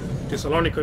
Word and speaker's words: Thessaloniki: Thessalonica is ours. Or as the Greeks pronounce it, Thessaloniki.